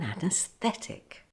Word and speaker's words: anaesthetic: and in close succession the stress is still on the air but the e sound changes to a long e sound after F say fee fee the friction for is